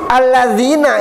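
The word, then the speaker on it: الذين: Alladzina itu huruf Al-Qurannya alif, lam, zal, digigit lidahnya, ya, nun. Alladzina.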